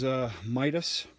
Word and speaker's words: Mitas: I believe the correct way to pronounce this is Mitas.